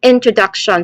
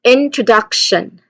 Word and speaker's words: introduction: So you give a slight emphasis to the first syllable in and a stronger, longer emphasis to the third syllable, duck. The other syllables should be quicker and less stressed.